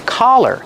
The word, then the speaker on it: collar: Pronunciation, use the sound ah, the open sound ah, like hot and stop. Ka, collar. Don't be confused with color. Color has the short sound like cup and up.